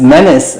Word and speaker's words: Menis: your last name is Menace I know it's spelled as me n i s yeah but I think it's pronounced as Dennis the Menace and you're part from